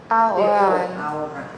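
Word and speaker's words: ahorran: Aha, the H is silent, so don't pronounce it. A and then ahoran.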